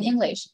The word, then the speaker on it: English: mình đọc sao à Thái tiếng Anh In English ok rồi tiếng Anh mình đọc là English cái từ in nh trọng âm